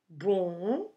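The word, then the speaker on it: bom: to some pronunciation tips when we say born which means good we don't actually close our lips at the end of the words to do it a M sound the M it's there just to make the previous vowel nasal so don't close your mouth pronouncing this word boom yeah Pandya so this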